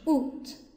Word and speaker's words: août: 哎，这个长得有点奇怪，但是它发音是 août。